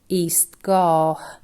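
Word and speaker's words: ایستگاه: Again, here it makes the sound he and hasn't joined the letter B for it, which is letter alif, and the word is pronounced Eastgah.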